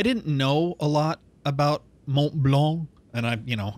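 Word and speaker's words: Mont Blanc: and I you know I'm gonna exaggerate it because everybody is always correcting me about the pronunciations yeah that's a rough one for me too Mont blank as I as I like to say just out of vindictiveness um uh I liked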